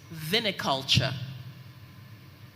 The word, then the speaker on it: viniculture: you speller 41 hello your word is viniculture please can you repeat the word viniculture please may i have the definition of the